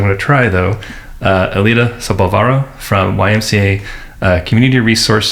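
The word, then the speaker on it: Elida Sobalvarro: Uh, Alita Sabvaro from YMCA uh, Community Resource Center.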